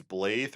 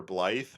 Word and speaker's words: Blaidd: His name is, I think it's Blythe or Blythe, but it's spelled Blaidd. So it's very confusing on how to pronounce it.